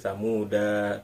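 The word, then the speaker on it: ثمودا: Jadi Thamuda tidak seperti itu, tapi tetap Thamuda. Danya satu ketukan saja, Thamuda satu ketukan. Tidak kita panjangkan Thamuda.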